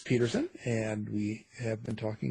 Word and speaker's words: Pederson: Pederson is P-E-D as in David, E-R-S-O-N. So it looks like Pederson, but it's pronounced Pederson.